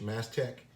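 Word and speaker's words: Mastech: i'm not mistaken but it's spelled m-a-s-t-e-c-h mass tech and it reminds me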